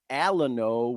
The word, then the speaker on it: Alano: Hey, tomato, potato, potato, whatever the fuck, I kind of came from the school where we equated the pronunciation Alano with Alamo, like the Alamo in Texas, the last stand, you know what I mean?